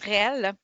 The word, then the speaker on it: REL: les rel c'est quoi ça se prononce réel donc çaelle dit source